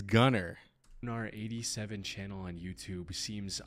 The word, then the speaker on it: Gunnar: It's Gunner.